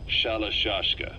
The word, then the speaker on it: Shalashaska: known about that because somewhere along the line shashka got stuck on the end of sriracha the gorillas were using the name amongst themselves and by the time i got to hearing about it pronunciation had wound up as shalashashka so half gulag half